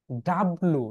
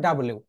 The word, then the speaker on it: W: এরপরে এটাকে আমরা বলি ডাব্লু, রাইট? কিন্তু এটা রাইট প্রোনাউন্সিয়েশন হবে ডাব্লিউ।